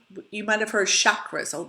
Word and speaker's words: chakra: You might have heard chakras. The common word is chakra, or the common pronunciation, but I learned from my yoga teacher the correct way is chakra, so I say chakra now.